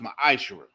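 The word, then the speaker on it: מעשר: 3 8-10 means 10th in the Hebrew and it's pronounced my eyeshower it's a tenth of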